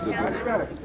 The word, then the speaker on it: Gorée: Jean de Trek, avait le problème de prononcer le nom hollandais Good Red. Il a changé le nom séparé en deux syllabes. Sur le Good, il a pris le G et le O. Le Red, il a pris le R et le E. Il a rassemblé, qui est devenu Gorée.